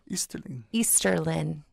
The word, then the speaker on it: Easterlin: Easterlin. Not a G. No G. Lin.